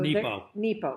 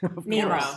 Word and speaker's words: Nepo: So Nepo. Mark Nepo. Did I say it wrong? Nemo. I said Nemo.